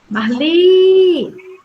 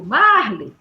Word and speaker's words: Marli: Marli. Eu não digo Marli. Eu digo Marli.